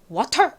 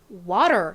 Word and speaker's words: water: T를 리을처럼 발음하기도 하는구나.